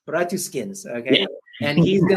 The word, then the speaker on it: Bratuskins: Did I pronounce that correctly? Yeah, it's Bratuskins. Bratuskins, okay.